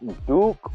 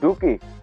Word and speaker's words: Dookie: Maybe you are not Duke or Dookie. Dookie. Exact, Dookie.